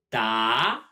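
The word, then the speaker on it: 答: Da, like big, but with a rising tone.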